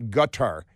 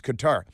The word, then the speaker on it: Qatar: in Qatar it's not gatar it's it's Qatar because that's the American pronunciation and they can you